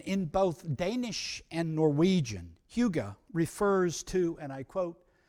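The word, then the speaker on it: hygge: they have a word it's spelled h-y-g-g-e it's pronounced huga and in both danish and norwegian huga refers to and i quote a pleasant and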